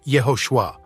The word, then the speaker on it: Yehoshua: First-century Christians who spoke Hebrew would have pronounced his name Yehoshua, while those who spoke Greek would have said Jesus.